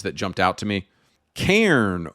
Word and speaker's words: Cairn: Cairn or Karen. The funny thing about this game is I think they pronounce it Karen.